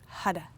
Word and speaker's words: Har: Hara is H-A-R, and the R is a hard R, so it's like a D.